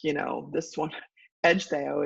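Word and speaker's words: Ecgtheow: you know this one Edge Theo is how you say that but if you don't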